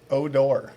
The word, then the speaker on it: O'Dor: how do you say your last name oh door odor Yahoo Yahoo yeah you guys might